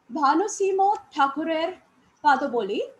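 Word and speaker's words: Bhanusingha Thakurer Padabali: Among his 50 and odd volumes of poetry are Bhanusimo Thakurer Padoboli, I am pronouncing it as the Bengalis do, Manoshi, that is Manasi, Sonatori, Sonartari, Gitanjali, Gitamolo, and Balok.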